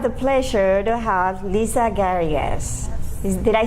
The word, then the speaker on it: Garrigas: Garrigas, both the English and Spanish way. Garrigas in Spanish.